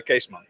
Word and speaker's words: Keesman: Uh, Caseman. Caseman.